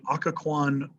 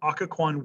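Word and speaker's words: Occoquan: but wilson arrests them they're sent to the akka kwan akakuan workhouse let me spell it for you o c c o q u a n o c c o q u a n akkacon workhouse okay now it's a work they say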